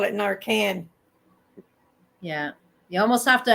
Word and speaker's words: Narcan: Narcon. In the city, you need to have Narcon. Here, you need Narcan.